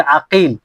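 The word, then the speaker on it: عقيل: গিয়ে ভিন্ন ভিন্ন হবে যেমন মোহাম্মদ ইবনে আকিল মোহাম্মদ ইবনে আকিল আরেকটা হচ্ছে মোহাম্মদ ইবনে ওকাইল মোহাম্মদ ইবনে ওকাইল তো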